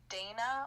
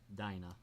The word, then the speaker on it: Dinah: yes my mavis's paradox is it pronounced dana or dinah dinah okay i've asked that